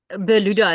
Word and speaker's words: Berluda: by Laura Schuman from is it pronounced bluda Laura bauda is fine yes gra good morning